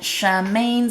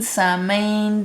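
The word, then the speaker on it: Samhain: Shamain, Samain, depending on how you pronounce it.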